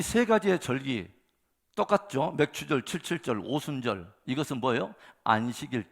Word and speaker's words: 맥추절: 경기 해야 될 것은 이 발음을 잘 해야 된다는 것입니다 맥주가 아니라 맞춥니다 아 자 그래서 자 이 세가지의 절기 똑같죠 맥추절 칠칠절 오순절 이것은 뭐예요